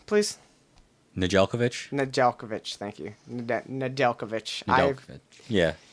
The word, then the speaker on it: Nedeljkovic: Nedeljkovic, thank you.